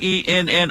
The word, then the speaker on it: Yenni: really kind it's not a you assuming I'm mispronouncing ye n ni I how would you pronounce it oh Yenni